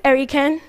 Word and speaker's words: Erikan: taxi drivers I tell them my name is erican and they say ah era you're Americana no